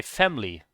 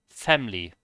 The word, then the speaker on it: family: say family they say family family like the the the e is almost not there family you know stuff